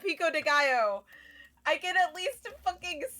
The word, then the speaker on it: pico de gallo: They better at least know how to pronounce taco and pico de gallo and not say. They said pique de gallo. That awful. What the fuck is pique de gallo? Pico de gallo.